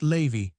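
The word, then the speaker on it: Lévis: Salon some very noble ladies named Mathan ne Lavis, which was pronounced Levi, Cambis, pronounced Cambis. These antique visages and these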